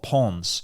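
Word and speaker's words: Pons: in a place called pawns p o NS but it's pronounced p in France you don't pronounce the S so I'd be like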